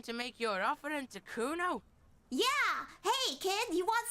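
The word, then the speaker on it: Cuno: It's fucking Kuno. Say it right, bitch. Say it like it's said.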